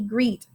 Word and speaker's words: greet: and then we have gr e double e it's got to be the e sound so we mark out one because we only say it once and it's a long e greet and then act at